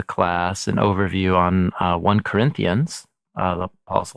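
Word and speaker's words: 1 Corinthians: ST you know uh by the one for we Americans say first yeah but there's no ST and it's definitely not his first letter he says in the letter that it's a second letter so anyway uh Dr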